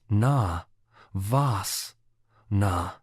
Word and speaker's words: Navasana: Navasana, pronounced na, vas, na, is a seated pose that targets the core muscles.